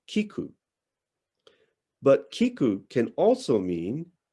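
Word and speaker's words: 菊: are used is that chrysanthemum in japanese is pronounced kiku but kiku can also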